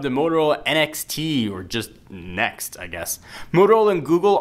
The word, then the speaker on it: NXT: now being reportedly called the NXT probably pronounced just simply next apparently we can expect